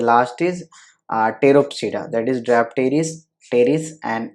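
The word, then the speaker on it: Pteropsida: कौन कौन से हैं, तो पी देखो हर जगह साइलेंट है, क्लियर है ना। सिलोप्सिडा जिसका एग्जाम्पल है सिलोटम, देन लाइकोप्सिडा जिसमें सेलिजनेला and lycopodium, then फिनोप्सिडा that is Equisetum, then टेरोप्सिडा that is ड्रैप्टेरिस, terrace and Adiantum.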